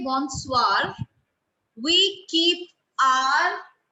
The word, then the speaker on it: bonsoir: In Bonsoir. French? Bonsoir. Bonsoir. S-O-I-R. Bonsoir. S-O-I-R. Bonsoir. So we Bonsoir. don't say bonsoir. We don't say bonsoir.